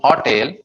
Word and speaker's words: hotel: H as in हो को लंबा खींचेंगे, टेल को छोटा करेंगे.